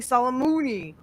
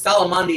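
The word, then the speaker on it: Soleimani: first time by killing Solomoni or however the Trump said. No, no, no. It It's Solomandi is the correct name. He just he just couldn't pronounce it.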